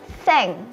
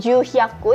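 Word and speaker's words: 千: Kemudian 900 kyu hyaku dan 1000 ini sudah berbeda lagi, kita masuk ke bilangan seng. Jadi bukan ju hyaku ya teman-teman, tetapi seng.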